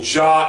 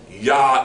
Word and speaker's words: Yah: also says install him by his name yah okay so John is erroneous yah is correct okay all right okay